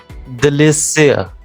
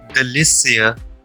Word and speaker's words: délicieux: However, an acute accent like in the word délicieux should be pronounced like a vowel A. So it should be pronounced as the word pay, pay.